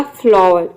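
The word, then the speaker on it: flower: र के साउंड में, या फिर आप चाहे तो यहाँ पे वर्ड के लास्ट में अगर ER आ रहा है तो यहाँ पे आर को साइलेंट भी रख सकते हैं और भी प्रोनाउंस कर सकते हैं। जब इसको प्रोनाउंस करेंगे तो आर का साउंड अपने आप निकलता है।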